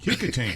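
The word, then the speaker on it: Kecoughtan: the prom for Kickotan High School. Kickotan. I guarantee you there's no one listening that could without googling it could spell the name of that high school. It's got some h's or something in there throwing you off. Yeah. It it does not like Louisiana. Exactly. Yes. Be from there to say it right.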